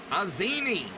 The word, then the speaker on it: Pazzini: Nick Pazzini, pronounced as an A. Pazzini, number 20.